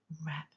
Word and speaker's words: wrap: wrap around the word wrap. Close your eyes now and think of the word wrap, where the W is wrapping paper or a scarf. W is a silent letter in the word wrap.